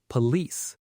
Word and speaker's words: police: Think of the word release which rhymes with the second part of police.